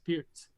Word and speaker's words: Pirc: like birc perk well it's not perk it's pierce so that's the right way to say it and the idea of